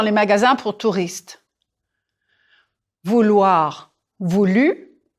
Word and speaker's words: voulu: Vouloir, voulu. Pronounce that one again. Voulu. Ou eu. Vous-tu. Voulu.